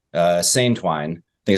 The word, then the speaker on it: seine: but I've always heard it pronounced Seine in the fishing or the sailing circles I've been in.